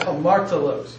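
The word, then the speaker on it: ἁμαρτωλός: The rough breathing always is pronounced with an H sound. So you have hamartolos.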